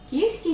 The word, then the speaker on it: кігті: лише звісно п'ять винятків кігті нігті легко вогко і дігтяро ці всі слова у вимові матимуть х але на письмі звісно вони матимуть г кі г ті ніг